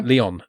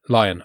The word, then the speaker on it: Lyon: So um number 46 again I mentioned is George Ella surn her name sorry Leon. Is that how you pronounce it? Lion.